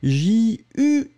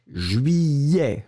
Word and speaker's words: juillet: So it's J-U-I-L-L-E-T. And you pronounce it juillet. Remember, juillet. That's it. So this is the way it should be pronounced.